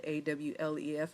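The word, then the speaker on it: aleph: of the alfet the alfed a wlef is how it's pronounced but it's a l e p h or a l e f a is the vital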